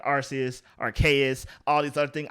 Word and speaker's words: Arceus: pokemon's name pokemon legends arceus with a hard k i'm in the arceus